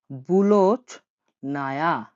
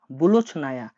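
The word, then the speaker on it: булочная: রুটির দোকানকে রাশিয়ানে বলা হয় বুলোচ নায়া। বুলোচ নায়া।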